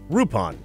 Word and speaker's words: Lupin: or they would use the Japanese pronunciation rupon which is not racist